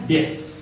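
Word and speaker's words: です: Oke, tulisannya des dibacanya des, u-nya hampir tidak terbaca, des biasanya.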